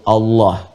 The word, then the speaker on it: Allah: Allah subhanahu wa taala walaupun nanti dalam pedoman transliterasinya dituliskan misalnya ada a kemudian l l ada yang menuliskan a lagi Kemudian H dibacanya tetap mengembalikan kepada diksi aslinya tulisan aslinya dalam bahasa Arab yaitu Allah ingat ya Allah dan